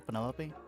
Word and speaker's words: Penelope: delightful Penny pointer pleasure is that short for Penelope officially yes but I never can be bothered with all four syllables of it Penelope sounds a little